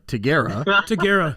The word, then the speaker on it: Tigera: obviously we realized that we've been pronouncing the name wrong now uh taguera holy smokes man which no hey i mean